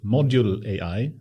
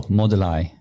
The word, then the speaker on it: Moduli: to pronounce it correctly, Module AI. No, Moduli. Moduli.